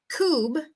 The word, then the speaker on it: cub: in English okay so short u sound Cub long u remember it's going to sound like the vowel letter so lenita that's a